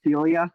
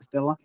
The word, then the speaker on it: Scylla: But by the way, I should say, it's pronounced Celia, not Stilla.